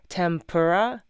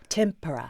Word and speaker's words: tempura: r a right in Japanese it's ten t e n pura tempura there's no m right where did that m come from no idea we just added it yeah it's just